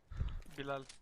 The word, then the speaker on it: Bilal: That's how you say it. No, that's... I'm not gonna butcher my language for you guys.